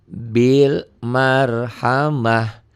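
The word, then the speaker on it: بالمرحمة: ada sukunnya di sini jadi bacanya Bil Marhamah Bil Marhamah ya tanya berubah menjadi ha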